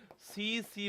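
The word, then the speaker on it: tsetse: हिंदी में बोलते हैं सी सी मक्खी जो है वो इसका रोग वाहक है या फिर इसको ऐसे लिखते हैं हम आपके टी साइलेंट है यहां पर तो टी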